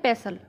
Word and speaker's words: pestle: English में बोलते हैं पैसल, PESTLE, लेकिन इसमें टी साइलेंट रहता है और इसे बोलते हैं पैसल।